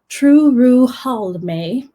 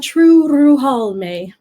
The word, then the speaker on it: Turuhalmë: elven holiday known as true Ruhal may or true Ruhal may in elvish you always want to roll your R's so try your hardest to roll that are Vallum ah true Ruhal may is what the elves